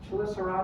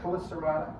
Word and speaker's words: Chelicerata: Chelicerata or Chelicerata, I've heard it pronounced both ways.